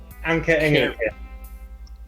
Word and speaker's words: Anke Engelke: Anke Engelke. Huh? Anke Engelke. Ah, alright. That's how you pronounce it.